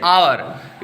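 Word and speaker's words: hour: हुआ है हम क्या बोल रहे है एच साइलेंट कर देना क्या बोल रहे इसे आवर इसे क्या बोल रहे हैं ऑनेस्ट इसे क्या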